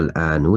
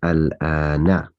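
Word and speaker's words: الآن: It's not huwa al-anu, it's al-ana.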